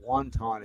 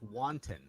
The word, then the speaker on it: wanton: n t o n so it's not wanton as in Chinese soup it's it's wanton right wanton so yeah